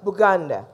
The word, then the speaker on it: Buganda: are called Uganda because we say it was boo Ghana but our B is silent so the British didn't hear the B and so you know